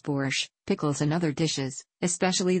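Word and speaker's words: borș: an ingredient for soups such as boars pronounced boorish pickles and other dishes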